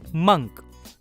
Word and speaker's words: monk: ओ की दूसरी आवाज होती है अ, और इसलिए MONK का उच्चारण होगा मंक।